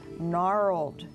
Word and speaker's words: Gnarled: Bonus: For five points each, spell the following: First, "Gnarled," meaning twisted. (buzzer) Sam? (Sam) G-N-A-R-L-E-D. (Dr. Walton) Correct, you got the silent letter.